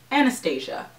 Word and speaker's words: Anastasia: Anastasia sounds like I'm trying to be fancy and Anastasia just sounds like I'm saying it wrong. So, Anastasia.